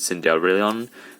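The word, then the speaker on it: Cendrillon: I think in the game she pronounces Cinderellarion, but it's Cinderella, so it's kind of like the glass slipper, and it says Violet on it.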